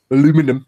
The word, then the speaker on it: aluminium: discovered it actually called it aluminium so technically aluminium is the correct pronunciation now so the Americans have got that